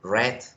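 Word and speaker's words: read: diferente porque por ejemplo la palabra leer en presente se pronuncia ritter ruiz mientras que en pasado la palabra se pronuncia red red entonces vean por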